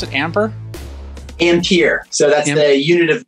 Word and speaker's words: Ampere: amper uh amp is is that how you pronounce it amber ampere so that's the unit of measurement for electricity